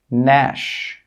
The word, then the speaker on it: gnash: When we have a G and it's before an N, the G sound is normally not pronounced. Some common examples are design, sign, foreign, Nash, campaign.